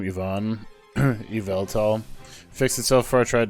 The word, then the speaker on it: Yveltal: I suppose it does go YVEL, so it's like Yveltal. Council recognizes that you're correct, but the council thinks that this is a dumb as shit decision. That's just adding syllables for syllables' sake.